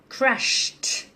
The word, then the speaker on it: crashed: Crashed. The ending sound is t.